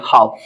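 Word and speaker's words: half: य लिख देते हैं एच ए एल एफ देखि य प एल के बाद एफ आया इसको क्या पढ़ेंगे हाफ हाफ इसका मतलब यहां भी एल क्या हमारा है साइलेंट है य भी वर्ड क्या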